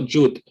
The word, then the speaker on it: Judt: So the spelling, my last name is actually pronounced Judt, right? Originally, I say Judt here in America, but it's spelled different ways.